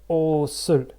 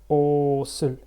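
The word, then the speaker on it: 옷을: However, when they are getting combined together, this s is actually getting pronounced. So it's like osul, osul.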